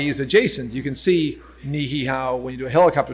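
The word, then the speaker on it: Niʻihau: So all the way to the farthest left is Niihau, properly pronounced, by the way.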